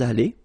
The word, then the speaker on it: allés: Nous sommes allés. You don't pronounce it. Okay, but you write it. Nous sommes allés.